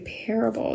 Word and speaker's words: parable: The part of it, although it could have taken on a long A or stressed A sound like parable, it's not, and it's not natural to speak that way. We usually say That A has been schwa'd, and it takes on a short U sound.